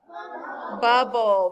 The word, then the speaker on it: bubble: how do we code final stable syllables and mariah how do we code those very good i didn't think you would remember but you sure did you put a bracket and you cross out the e the silent e does this word need